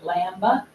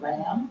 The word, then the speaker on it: lamb: Cano because and th like lamba because it's MB lamb it's not a lamb it's a lamb um yeah and then